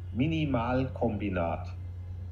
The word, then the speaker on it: Minimalkombinat: keybot minimum i'll let mario pronounce it it's pronounced minimal combinat minimal combination okay so i got a a